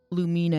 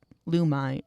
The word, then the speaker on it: Lumine: on the English and I said Lumina and she's like lumine lumin lumine or whatever. And I was like that's how it's pronounced and she's like yep.